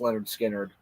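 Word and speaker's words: Lynyrd Skynyrd: general but this first album especially just uh pronounced Leonard skinnard what an amazing kind of Summer album starting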